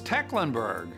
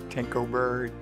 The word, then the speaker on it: Tecklenburg: How do you say his name? It's Tecklenburg. Tecklenburg? He's focused on our city. Tinkleberg.